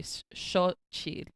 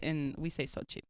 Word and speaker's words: Xochitl: So, well, if you're, I think the proper like Mexica pronunciation would be Xochitl, but we say Xochitl.